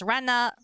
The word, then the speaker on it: Rena: It's Rena, Rena. Everyone pronounces it differently.